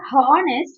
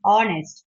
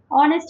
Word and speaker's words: honest: It's not honest, it is honest. H is silent. Okay. Okay, ma'am. H is always silent in the word honest.